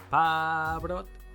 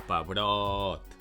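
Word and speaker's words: pebrot: "Peeee"-brot or pe-"broooot"? Pe-"broooot", right? Well, the stress is on "brot".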